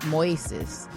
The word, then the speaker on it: Moises: with Willow Smith and Moises Arias? Is that how you say his name? I believe. Well, I have a friend who's Spanish, and his name in, English is Moses, but it's Moises in Spanish.